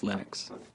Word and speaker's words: Linux: people pronounce my name but Linux is always Linux he developed a kernel